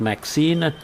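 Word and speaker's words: MXene: uh MXEN maybe it's pronounced maxine is also a material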